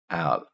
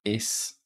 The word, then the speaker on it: especial: What a typical English speaker would do when first learning Spanish is they would go especial. But Spanish can't do it. Spanish can't do sp. So what actually happens in Spanish is when they pronounce it, they go especial. especial. So they don't put the sp together. They separate it into different syllables because that's what their